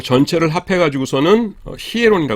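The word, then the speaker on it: ἱερόν: 히에론 ?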